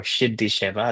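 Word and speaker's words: সিদ্ধি সেবা: And then we'll dive into the practice of siddhi sevā or siddhi sevā, it's pronounced in Bangla, and what that entails.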